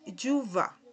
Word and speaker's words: chuva: Y esta palabra es yuva. Yuva, así más o menos se pronuncia, chuva.